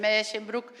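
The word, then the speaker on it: Musschenbroek: Eso de Meeschenbroek non é que eu sexa unha pedante, é porque estiven con un profesor holandés e me dixo que se pronunciaba así.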